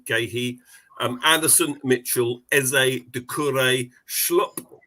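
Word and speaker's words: Guéhi: Ward, Gahey, correct pronunciation, Gahey.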